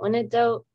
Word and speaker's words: Wyandotte: They were in the process of killing how do you pronounce that? Wyandotte.